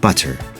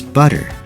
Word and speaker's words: butter: would sound like water but we say water butter with a hard tea it would sound like butter but we pronounce it as butter starter it's not starter but starter City not